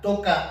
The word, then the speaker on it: Tokaji: tokai suprimiendo la final la diferencia de pronunciación entre la región y el vino pues es el acento tocar en la región toca y es el vino que